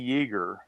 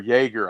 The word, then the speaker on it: Yeager: So in 1954, she went to Miami and she met a photographer named Bunny Yeager, or Yeager, I think it's pronounced. So Yeager, somehow they got in